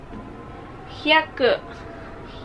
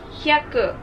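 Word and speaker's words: ひゃく: Hyaku. Hyaku. Or 100. Or hundreds. Japanese counting. Hyaku.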